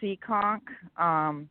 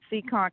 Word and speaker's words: Seekonk: and yes I do hahaha well okay it's pronounced Seekonk Seekonk Massachusetts which is right by Providence Rhode Island